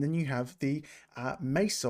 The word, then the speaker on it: Mesa: you have the uh Mesa or Mesa or even Misa someone called it which I really do like the name of um pronouncing it like that that is the user